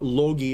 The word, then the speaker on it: Loki: not the correct pronunciation no it's more like loki or lo logie it's almost like a g like logo okay it's one of